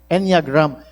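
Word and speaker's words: Enneagram: How do you pronounce this inagram? Eniagram.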